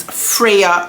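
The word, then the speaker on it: Freja: is how it's pronounced it is spelled f re e j a I'm going to go ahead and assume that J is pronounced like a y I'm going to pronounce it Freya you guys when I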